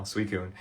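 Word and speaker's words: Suicune: Suicun.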